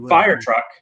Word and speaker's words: fire truck: But fire truck, I only stress the beginning.